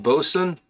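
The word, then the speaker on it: boatswain: Oh, it's pronounced bosun.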